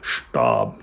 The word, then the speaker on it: Stab: Stab. Remember how to pronounce the ST.